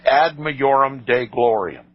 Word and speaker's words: ad majorem Dei gloriam: In Latin it is pronounced ad majorem Dei gloriam, the greater glory of God, by such undefined